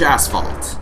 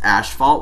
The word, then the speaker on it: asphalt: Orange asphalt. Yeah, it's not actually pronounced asphalt like a lot of people say. It's asphalt. And not asphalt, and hang on a sec, just got a text message.